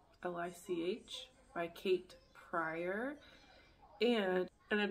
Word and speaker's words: lich: I need to look up how to pronounce. Lich.